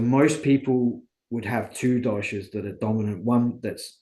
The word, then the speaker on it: dosha: So, is it called Doshik? Doshik? Dosha, so Oh, Dosha, dosha. dosha. Your dosha type.